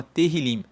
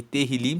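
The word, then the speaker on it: Tehilim: No original, na Bíblia original, o livro de Salmo se chama Terilim, que se escreve T E H I L I M. E Terrilim significa louvores.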